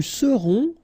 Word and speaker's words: serons: Nous serons, so final S not pronounced, then on, on, seront.